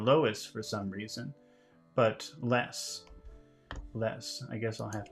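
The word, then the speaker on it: loess: this adventure you can see a picture of Lois l o e SS and I guess that's how you pronounce it let me let me see where I am here okay so this is Lois it's kind of a yellowish soil I guess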